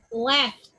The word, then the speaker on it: laughed: So if you put ed in the past or the past participle, I'm going to say it like laughed. Laughed, not laughed. Laughed. So the ed is like t.